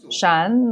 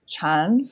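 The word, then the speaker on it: 禪: method what is shan please note that my pronunciation is shan not chan what is shan is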